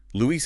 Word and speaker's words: Luis: Luis is 2 syllables, not English Louis with a schwa.